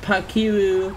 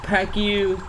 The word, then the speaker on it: Pacquiao: His last name is pronounced Pacquiao. Pacquiao.